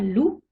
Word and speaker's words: loup: le z par exemple un loup le p ne se prononcent pas il ya des exceptions